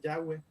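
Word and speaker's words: Yahweh: es voy a ver en inglés ya web pero en español como traducido al español se puede decir es llave aunque latina guisado me pusieron de nombre de jehová habría que ver de acuerdo con esa traducción prefieren llamarle ya ve pero al final dios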